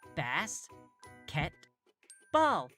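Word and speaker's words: basketball: This means that the vowel sounds are probably short: bass, ket, ball. You can also check to see if you have divided the word into syllables correctly using this trick.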